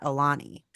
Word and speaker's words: Aulani: were you guys and I'm saying it right Alani right yeah okay how many nights were you guys at Alani we were there for four nights we did